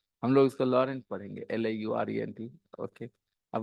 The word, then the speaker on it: Laurent: Long, but his name is Laurant or Rent, Laurent. Okay, हम लोग उसको लॉरेंट पढ़ेंगे, Laurent.